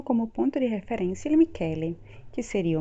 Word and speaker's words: Michele: A gente já estudou a parte da pronúncia do CH, então CH tem som de K em italiano.